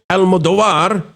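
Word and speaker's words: Almodóvar: beloved international atur Pedro Almodir I put the wrong syllable there it's on the O uh Hiroasu Correra and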